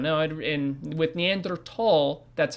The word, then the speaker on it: Neanderthal: uh homo neanderthalensis and yes it is neanderthal not neanderthal neanderthal t8 you know you pronounce the teenage separately it's not a th it's a taha you